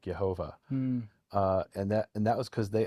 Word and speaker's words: Jehovah: But in German to this day, if you were to write Jehovah, Jehovah, they would pronounce it Yehovah.